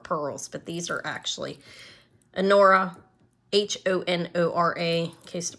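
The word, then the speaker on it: Honora: I have, these are Anora pearls.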